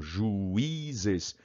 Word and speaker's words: juízes: Pronuncia a palavra juízes. Não, juízes. 3 sílabas. Juízes.